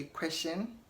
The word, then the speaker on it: question: Did you say question? It is not pronounced as question. It is pronounced as question and not question, but question. Okay, so question and not question. you want to say question mark and not question mark, but question. Chin, not shin, okay?